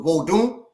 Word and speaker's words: Vodun: said it's from Haiti vodu which is you don't say the end go Doon because it's nasal lies in in most West African languages so vodun that is the tradition